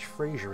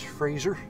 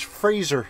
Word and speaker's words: Fraser: that made the game his name's not even pronounced frasier it's fraser that's right however you